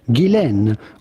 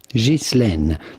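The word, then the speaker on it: Ghislaine: Now the question is on her first name more than anything which is of French origin and in French it can be pronounced either Gilen or Jane but in British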